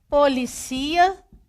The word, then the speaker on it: policia: Mas se eu digo assim, a mãe, policia, vigia, o filho. Essa palavra, ela não tem acento porque policia é uma paroxítona terminada em A.